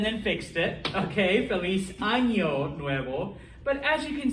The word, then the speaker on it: ano: funny example all right there is in fact a difference between those two words this is pronounced ano okay with the n and it means anus this is so you got the anya this means year okay so um npr